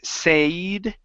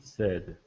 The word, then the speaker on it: said: last one here is the word said instead of Sade okay give me a short e sound Pete said he said good all right nice